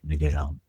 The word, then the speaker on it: Leguizamo: I believe it's pronounced Leguizamo. John Leguizamo. It's Leguizamo.